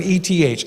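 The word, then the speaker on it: את: It's pronounced with an ETH, et.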